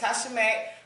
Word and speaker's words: Tasha Mac: When you say my name, make sure you say it completely. That's Tasha Mac.